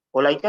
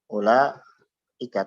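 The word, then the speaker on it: أولئك: Ulaika nulisnya bagaimana? Nah, seperti ini. Ya. Ulaika. Tapi bacanya apa? Ulaika. Ulaika. Jadi bukan ulaika salah. Kalau kita baca ulaika salah. Tapi ulaika. Jadi setelah langsung la. Ulaika. Yang panjangnya la-nya saja. Adapun u-nya pendek. Kenapa? Karena waw di sini ada secara tulisan saja, tapi secara pengucapan tidak ada.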